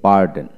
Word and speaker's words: burden: এখানে BARDEN, বার্ডেন। এখানে আপনি বার্ডন উচ্চারণ হলো বার্ডন, আমরা অ্যাজ ইউজুয়াল বার্ডেন বলতেছি। আর উচ্চারণ করবেন, ব্রিটিশে আর উচ্চারিত হয় না, আমেরিকানে আর উচ্চারিত হয়।